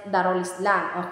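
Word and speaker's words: Dar al-Islam: ang kanilang lupain ay Dar Al Islam Ano ba yyung Dar Al Islam um in Arabic we we pronounce it darul Islam Okay so meaning ang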